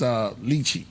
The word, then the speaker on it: lychee: But the flavor is lychee. Lychee? Remember that? Remember what's it called? Lychee. I said it right? Lychee. Right, Yeah, right. it's lychee.